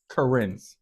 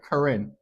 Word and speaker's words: Karen: So you have, for example, you have the current current. How do you say it? How Karen Yeah. That the white ladies, that's how I'm trying. Karen Karen like the name Karen.